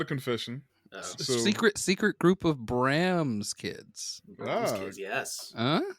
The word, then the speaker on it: Bram: Secret group of Bram's kids. Bram's kids, yes. Huh? Because it's maybe wait. You said it's Bram. Bram. I said Brams. I'm from North Carolina. It's Brams. That's fine. I believe it's Bram.